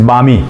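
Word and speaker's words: balmy: Okay, so next word is बामी। बामी मतलब सुहाना। सुहाना मौसम जो रहता है, आरामदायक मौसम रहता है वो, बामी। एल साइलेंट है यहाँ पे।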